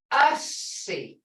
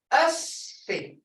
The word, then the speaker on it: ussy: Double consonants in Creek are held slightly longer than single consonants. Example, hussy, ussy. Hussy, son, ussy. Hear that? Because there's no silent sounds, but you got to sound out. You got, this sounds is there. Now listen, ussy. Us, you don't have that C, the first C, but it's a C. That gives you tone, guys.